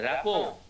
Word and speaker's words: rapport: তার ভালো র্যাপো আছে, র্যাপো লিখবো আমরা RAPPORT, বাট উচ্চারণ হবে র্যাপো, রয়কার পয়কার, র্যাপো উচ্চারণ করবে এগুলো ভালো করে জোরে জোরে।